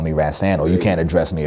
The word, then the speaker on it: Rahsaan: growing up you know my name is pronounced Raths and my father named me after a musician ran-san Roland Kirk and there's another artist named today calling us on Patterson but rats and is really how you say it but people like that